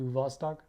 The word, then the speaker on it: Vostok: though is that beautiful Vostok logo here it is a B but I learned that the B should be pronounced as a V so that brings you to Vostok it has a few